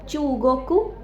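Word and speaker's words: 中国: Long sound नहीं है Thailand ताई ताई चाइना चूगोक चूगोकू इसमें लॉन्ग साउंड यूज़ होती है।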